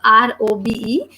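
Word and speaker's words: robe: In the end we have letter E, which is again silent, or we are not pronouncing that. So this word is rob.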